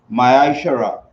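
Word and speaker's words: מעשר: 3 8 to 10 means tenth in hebrew and it's pronounced maya shara 10 of every penny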